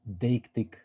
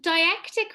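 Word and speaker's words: deictic: bigger versus smaller a sort of precursor to dictatic if i'm reading the word right dictatic relations could yeah so diactic relationships thank you look i'll be honest you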